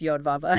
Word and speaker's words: Yahweh: sometimes pronounced Yodava. Yeah. Or Yahweh.